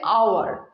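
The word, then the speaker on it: hour: এবার দেখো এই যে আওয়ার, এটা দেখো একটু এক্সেপশনাল। দেখো এই যে আওয়ার, আওয়ারের যে ফার্স্ট লেটারটা এইচ আছে, সে বেচারা ঘুমিয়ে আছে, ও সাইলেন্ট হয়ে রয়েছে, ওর কোনো সাউন্ডই আসছে না।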